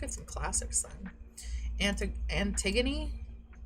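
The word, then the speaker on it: Antigone: Anti Antiggony, right? Antiggony. Yeah, it's pronounced antiggony.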